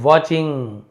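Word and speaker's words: watching: Someone somewhere is वाचिंग। कोई कहीं से है ना समवन यानी होता है कोई ना कोई। कहीं ना कहीं से आपको इज़ वाचिंग। है ना? टी साइलेंट होता है।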